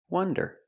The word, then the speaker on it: wonder: W one one one like the number one one wonder wonder the word wander with